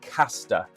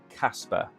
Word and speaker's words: Casper: 28 rank ranked token they have a different pronunciation it's Caster not Casper okay so when you watch